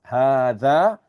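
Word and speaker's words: هذا: Okay, so just take note, dhalika is pronounced dhalika, just like hadha is pronounced as hadha.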